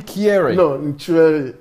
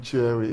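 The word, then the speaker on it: Kyereh: you say Daniel Kofi kiary cheering yeah you don't pronounce the cake yeah you don't pronounce they say it as a seat in Cherry yeah Hey listen you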